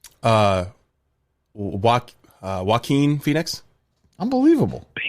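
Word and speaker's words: Joaquin: Jaen Phoenix. Uh Waen Phoenix.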